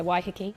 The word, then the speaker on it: Waiheke: Waiheke Island. Is that how you say it? That's so nice, yeah, Waiheke.